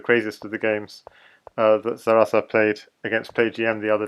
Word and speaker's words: Zaraza: How do you pronounce Zarasa? Say it again. Real name? No. So it's Zarasa, yes? Zarasa.